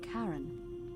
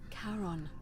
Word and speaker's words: Charon: Only your pronunciation is a little off. The name you heard wasn't Karen. It was C-H. Харон. Карен Харон. Charon.